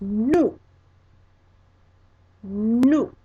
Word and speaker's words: nous: And in French, the word is nous. Nous. And that is spelled N-O-U-S.